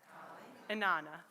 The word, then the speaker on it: Inanna: So before we begin, I'll give you the quick pronunciation lesson. Isis, Astarte, Diana, Hecate, Demeter, Kali, Inanna.